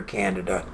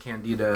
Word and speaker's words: Candida: all the time violinist candida candida yeah we said you know the day both pronunciations are correct if you get a hundred doctors until say 150 I'll say the other and Candida is sensitizing